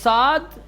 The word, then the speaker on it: ص: ایک سین نازک جاتا ہے اور صاد پرحجم پڑھا جاتا ہے، موٹا بنا کر پڑھا جاتا ہے.